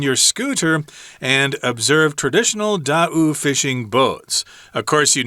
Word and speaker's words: Tao: If you look at that word without knowing how to pronounce it, you're probably going to say Tao. But I've been told that the name of the people on the island is Da'u, like 2 syllables, Da'u.